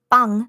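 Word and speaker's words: 빵: So the Korean word for bread, it's an NG sound at the end. Yeah. So that's why you hear me say bang. Yeah. So that's how you legit say it in Korean.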